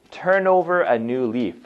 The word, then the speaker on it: turn over a new leaf: Okay, so the pronunciation, turn over a new leaf, okay? So the N and the O here, they join, so it sounds like turnover. It's not turn over, okay?